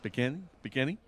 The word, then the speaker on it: Peghiny: It should be Peghiny with an I. Peghiny. I believe it was changed at Ellis Island. But there's a little bit of inflection on the second syllable, isn't there?